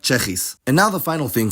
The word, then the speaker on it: Tsjechisch: It's pronounced as a cluster, sch in onset position like schap, and just s in coda position like Czechisch.